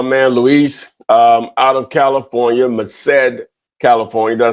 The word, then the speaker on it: Merced: I have my man Luis out of California, Merced, California.